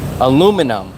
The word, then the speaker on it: aluminum: way and it's crazy aluminum that's how you say it it's spelled exactly like it said aluminum not alumium I'm